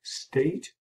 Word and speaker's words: Stait: number 15 and today my guest is state am i pronouncing that correctly yeah that's right yes thank